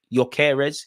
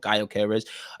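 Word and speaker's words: Gyökeres: Romano has spoken on yeres is that how you pronounce his name it's definitely not garez he said although many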